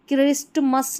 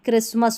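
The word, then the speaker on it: Christmas: Rule number 3 में कि कुछ अन्य सामान्य शब्द है, जैसे इसको हम यहाँ पर क्रिस्टमस नहीं पढ़ेंगे, क्रिसमस पढ़ेंगे। यहाँ पर टी साइलेंट है।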